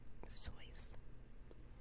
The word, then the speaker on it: Seuss: Susan to you actually I don't know if you knew this but his name is pronounced choice I don't know I